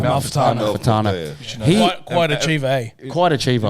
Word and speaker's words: Amalfitano: Amalfitano. Quite achiever, eh? Quite achiever. You know how I remember his name? Tell me. Amalfitano Coast in Italy.